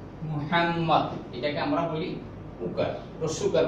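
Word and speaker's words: مُحَمَّد: নাম কি করতেছি মুহাম্মদ মদ পাশটি জব জব মুহাম্মদ মিমের উপরে পেশ। বাংলা অনেকে আমরা মৌকার লিখি মৌকার হওয়া কথা, তাহলে পেশের উচ্চারণ তো হবে ও হলো ওকারের মতো।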